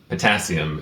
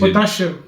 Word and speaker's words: potassium: Potassium is how we would pronounce it, whereas in the Philippines, Potassium.